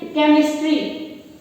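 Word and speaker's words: chemistry: ठीक है, जैसे शब्द है सिनेमा, सिनेमा में सी का साउंड, सी की ध्वनि उच्चरित हो रही है। केमिस्ट्री, केमिस्ट्री में क की ध्वनि उच्चरित हो रही है।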